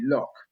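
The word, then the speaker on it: Lok: can't remember what uh it's actually lock not look they got we got misspelt a few times i've been mispronouncing that for years yeah no no but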